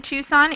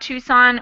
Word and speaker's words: Tucson: In modern day, the C in Tucson is usually not pronounced even though it was